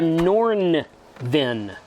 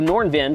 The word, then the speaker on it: Nornvin: this is a norn VIN n-o-r-n-v-i-n I love these names these names are awesome at least this one's pronounceable nordenvin solar generator power station with some